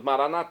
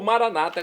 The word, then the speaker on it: Maranata: dialeto de Jesus hein como dizemos noss católicos maranat com a tônica na última sílaba ou Maranata como dizem nossos irmãos separados os evangélicos ou protestantes não importa a pronúncia o significado é o mesmo vinde Senhor Jesus um